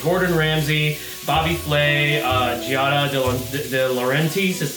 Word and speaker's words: Giada De Laurentiis: And also I'm a huge fan of like Gordon Ramsay, Bobby Flay, Giada De Laurentiis is how you say her name.